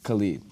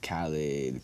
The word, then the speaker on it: Khalid: Khalid, but people say Khalid, Khalid.